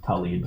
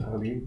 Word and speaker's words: Tlaib: It's spelled Tlaib, but it's pronounced Tlaib. Tlaib, good.